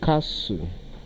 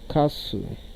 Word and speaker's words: castle: The option A is pronounced as castle, castle, long A, and take note that the letter T in this word is silent. Then option B is pronounced as a pestle, a pestle.